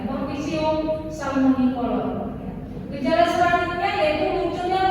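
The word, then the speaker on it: Corticium salmonicolor: Nah, jadi bacanya di sini jangan agak lambat, langsung ya. Cortigium salmonicolor.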